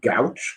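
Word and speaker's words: Gauche: Records, and they're called Gouch. Have you ever heard of them? Oh no, it sounds like gout. Yeah, it sounds like that, but spelled like Gouche.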